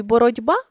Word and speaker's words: боротьба: жати ми бачимо що у слові боротьба буква т а звук д у слові книжці буква